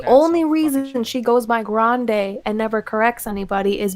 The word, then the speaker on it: Grande: she is italian and her last name is actually pronounced grandy the only reason she goes by grande and never corrects anybody